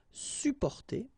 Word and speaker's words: supporter: You can also add this sup in front of porter, supporter, supporter. You don't really pronounce the two or the double p here.